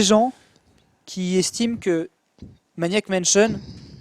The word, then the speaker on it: Mansion: Maniac Mansion. Mention. Mansion. Tu prononces pas le i en fait, c'est mention.